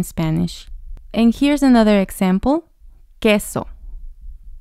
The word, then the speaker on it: queso: and here's another example queso queso so here the Q makes the k sound and the U doesn't sound in this instance there's an exception here